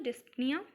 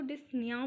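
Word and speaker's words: dyspnea: Basically इसको डिस्प्निया नहीं बोलते। इसको डिसनियाव बोलते हैं। पी साइलेंट होता है।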